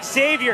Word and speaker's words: Xavier: to make sure to pronounce the X when we say his first name Xavier x-factor right down the